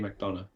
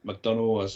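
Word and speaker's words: McDonagh: name correctly because the Americans can't it's JD mcdonal W what do they call him mcdonal and McDonald it pisses me off they can't pronounce my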